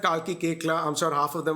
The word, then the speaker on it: Koechlin: But look, if I try to explain it in the French way, which the name is French, right? Kekla. And in French, you just don't pronounce the last 5 letters in the word.